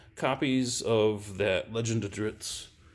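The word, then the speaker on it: Drizzt: of that Legend of dritz pronounce it how you want I pronounce it dritz yell at me it's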